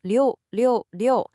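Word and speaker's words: 六六六: It's pronounced liu, liu, liu.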